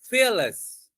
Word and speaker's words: fearless: So stress is on the first syllable. You can say fearless.